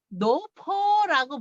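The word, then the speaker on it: 老婆: 그 파가 할머니 포자거든요. 그래서 원래 늙을 노자에다가 할머니 할 때 파, 그게 포로 발음이 됩니다. 그래서 마퍼더프를 원래 광동어로 마퍼더프고 한국말로는 마파두부입니다. 근데 그걸 합쳐서 와이프는 노포라고 부릅니다.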